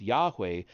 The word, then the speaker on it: Yahweh: The numerological elements seized their attention, and even the Hebrew name of God, pronounced Yahweh but written as Yod-Heh-Vav-Heh, took on special meaning.